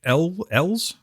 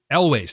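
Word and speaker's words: Elwes: I believe it's Carrie Ells. I do. Okay. And Wait, you're talking about Carrie Elways? Elways, thank you.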